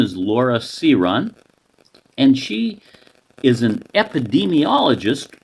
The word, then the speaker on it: Syron: So it's actually pronounced Syron, but Okay.